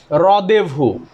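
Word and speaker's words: rendezvous: সঠিক উচ্চারণটা আগে আপনাদেরকে লিখে দেই এটা সঠিক উচ্চারণ হচ্ছে হচ্ছে রদেভু এটা মানে হচ্ছে একটা মিটিং প্লেস এটা মানে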